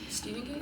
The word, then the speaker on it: Stephen: Shining by Stephen King Stephen King Stephen King not stepan it's spelled like stepan but it's Steven and I hate it Stephen